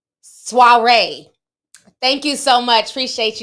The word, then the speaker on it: soiree: your by the way it's pronounced soiree thank you so much appreciate you love thanks